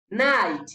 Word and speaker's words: knight: K is silent when it is before N at the beginning of a word. Urudome K ntiturusoma igihe ruje imbere ya N. Reka turabe ngaha mu burorero. Night, hadusoma ngo night ni